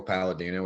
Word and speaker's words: Palladino: It's my name, Palladino. It rhymes like that, you know?